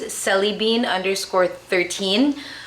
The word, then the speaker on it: sellybean: My Instagram handle is cellybean_13, which is spelled like jelly bean, but with an S.